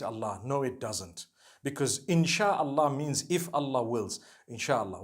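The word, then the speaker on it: إن شاء الله: in means to create no one says inshi Allah they say insha Allah that's what it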